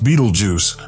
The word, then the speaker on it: Betelgeuse: our lowly planet Earth Beetle Jews has surpassed the confines of Science and reached the Realms of popular culture in addition to its astronomical significance its name pronounced Beetle Juice derives from the old